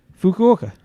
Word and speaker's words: Fukuoka: we know how to pronounce it correctly now? Fukuoka.